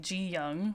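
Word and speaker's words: Ji-yong: So G-Dragon comes from his name Ji Young. It's pronounced with like a G sound, and he was born in the Chinese year of the dragon.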